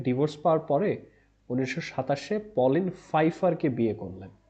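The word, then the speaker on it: Pfeiffer: Hemingway Hadley রিচার্ডসনের কাছ থেকে divorce পাওয়ার পরে 1927-এ পলিন ফাইফারকে বিয়ে করলেন। এটার উচ্চারণটা দেখেন, পিএফ দেওয়া আছে, তারপর আমরা ফাইফার উচ্চারণটা করছি।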